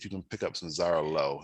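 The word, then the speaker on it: Xarel·lo: break rather this is zara low zara low it's how you pronounce it uh it thrives in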